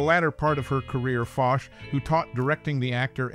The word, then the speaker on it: Foch: of Lawrence Lipton interestingly her last name fos rhymes with gosh she HED her acting